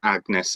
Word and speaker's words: Agnes: anne and agnes um we obviously say it more with a hard g now but anne and agnes at the time had a much uh much more similar pronunciation and so we